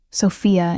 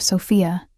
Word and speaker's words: Sofia: The Italian pronunciation of my name, Sofia instead of Sophia, sent an unexpected shiver down my spine.